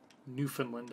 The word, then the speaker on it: Newfoundland: Newfoundland, I suppose, is the Canucks would insist it is pronounced. Or at least that's how all of my Canadian friends say it, so.